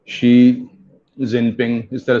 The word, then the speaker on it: Xi: तो news anchor ने बोल दिया 11 जिनपिंग। अब शी कौन पढ़ेगा ऐसे कि this is pronounced as शी, तो उसने बोल दिया शी जिनपिंग, तो इस वजह